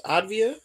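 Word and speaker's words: Avdija: They don't pronounce the J in Advia. So, it's Advia.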